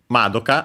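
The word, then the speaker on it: まどか: Madoka, accent on the ma.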